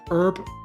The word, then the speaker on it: herb: Medicinal herb, ×3 obtained. I know it's pronounced herb, but then depending on where you are in the world, some people pronounce it herb, since there is an H in there.